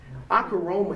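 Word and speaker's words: ὀχύρωμα: Akaroma is spelled O-C-H-U-R-O-M-A.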